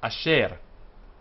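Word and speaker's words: אֲשֶׁר: attached to the patah, and it's a very short a. This is a very short e. So asher. It's only half a vowel, as I just said, and so it does not form a syllable.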